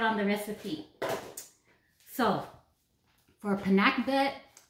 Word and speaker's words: pinakbet: Philippines that's an all-time favorite, and it's called pinakbet, and that is spelled P-I-N-A-K-B-E-T.